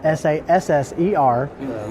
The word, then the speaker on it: SASR: So when it said it's just trying to figure out how to phonetically say SASR, so we had to spell it out, SASSER.